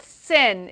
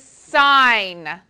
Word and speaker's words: sine: this is the function sine it is written as s i n with theta do not call it sin it is not sin it is sine okay this one is